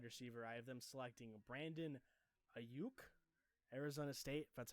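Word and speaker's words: Brandon Aiyuk: with another wide receiver I have them selecting Brandon a uke Arizona State that's how you say his name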